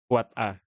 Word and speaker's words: AAAA: AAA ini diucapkan sebagai kuat A.